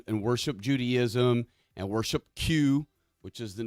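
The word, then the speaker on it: Qos: It's spelled Q-O-S, but it's actually just pronounced Q.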